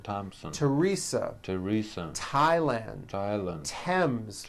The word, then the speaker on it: Thompson: spelled with a th they are pronounced as if they were spelled with a normal t t like that and these words are Thomas Thomas Thompson Thompson Teresa Teresa Thailand Islands